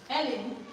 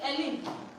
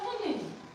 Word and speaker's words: Helen: Helen. Good. I love the way you pronounce it. Helen. Do you know somebody say Ellen? Are you not Helen? You are Helen. Don't say Ellen.